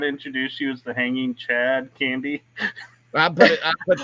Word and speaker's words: Chad Candy: come up here and I tell people my name's Chad candy and they're like Shad candid and I'm like Chad candy c h a b